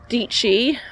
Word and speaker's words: Dietschy: is something that sarah dietschy rhymes with peachy um said in one